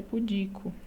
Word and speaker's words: pudico: a pronúncia correta é pudico ah não é público então isso aqui é uma paroxítona paroxítona terminada em o